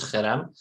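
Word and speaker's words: חרם: خب پس ما این کلمه رو داریم در عبری که تلفظ درست‌ترش همونطوری که استاد میگن با خ شروع میشه، اولش خرم گفته میشه.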